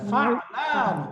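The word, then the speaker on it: فَعْلَانُ: 6 নম্বরে আমরা পড়লাম অ্যাডজেক্টিভ শব্দের একটা প্রকার, এটা প্যাটার্নটা হলো ফালানু। ফালানু একটু বলেন তো, ফালানু। ফালানু, মাশাআল্লাহ, ফালানু উচ্চারণটা ফালানু, ফালানু, রাইট, এটা হলো প্যাটার্ন।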